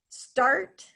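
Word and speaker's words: Starte: Did I pronounce their name right, Josh? Start Company? I believe S-T-A-R-T-E. Charter company, yes.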